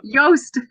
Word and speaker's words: Joost: Juiced. No, Joost. Joost.